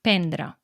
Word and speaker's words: prendre: R's, s'escriu prendre, però la primera R no es pronuncia normalment, o sigui, la major part de la gent no la pronuncia.